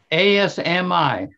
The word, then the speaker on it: Asmi: How do you spell it? A-S-M-I.